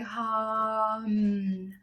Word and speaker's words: hum: Okay, so this is spelt like ham, but we're not going to be saying it like that. We're going to literally be going hum, hum.